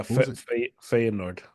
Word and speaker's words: Feyenoord: Yeah, Feyenoord. Feyenoord, okay.